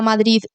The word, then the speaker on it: Madrid: sé cuánto sabes de Madrid lo pronuncio mal porque soy aquí de madrileña Entonces no pronuncio la d pero crees que está